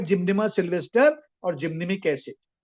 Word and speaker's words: Gymnema: product है मेरा जिम जिम जिमजिमा बहुत से लोग इसका प्रोनाउंसिएशन गलत बोलते हैं दोस्तों जिमजिमा not this is correct pronunciation इस जिम जिमनेमा टेबलेट देखा होगा सबने